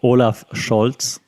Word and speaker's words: Olaf Scholz: So that's what Olaf Scholz, and that's how I pronounce it, Olaf Scholz, has to do or has to work with now that he's our first male chancellor in 16 years.